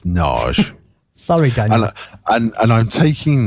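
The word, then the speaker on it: Nagy: Is that how you pronounce his name? Narge? I've always been calling him Narge. No, it's Narge.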